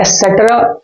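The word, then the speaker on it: et cetera: एसेट्रा I mean to से इसको एसेट्रा pronunciation किया जाता है, प्रोनाउंस किया जाता है, नॉट एक्सेट्रा, एसेट्रा, ओके।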